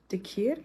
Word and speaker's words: dhikr: The DH is the th sound in Arabic.